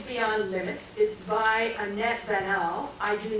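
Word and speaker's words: Baniel: It's like Daniel only starts with a B and that um kids beyond the limits.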